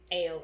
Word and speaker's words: Ail: I did listen to the Viz dub And they do pronounce his name as Ale. Ale? So, ale. Like ginger ale?